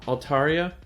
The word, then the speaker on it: Altaria: so I'm still using my so I'm using alt aria by the way I looked up the definition I looked at the pronunciation cut my handy book here and I